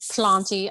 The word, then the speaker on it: Plauntie: i pronounce it as slanty i think of plant auntie and then like trying